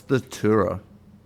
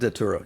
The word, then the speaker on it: Datura: What's the Tura? How do you spell it? I believe it's a psychedelic out of India that's extremely with dangerous. With a D. Datura, yeah.